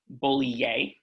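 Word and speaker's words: Bollier: told i've been i'm their name is pronounced bully yay so thank you um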